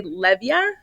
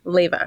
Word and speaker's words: Leyva: A lot of people want to say Levia because of the way it's spelled and they think the V is for the A. So, you got it absolutely correct, Leva.